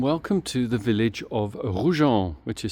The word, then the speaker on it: Roujan: Hello and welcome back to the channel, and welcome to the village of ROUHAN, which is spelt R-O-U-J-A-N. ROUHAN is one of the villages that serves the historic town of Pézenas.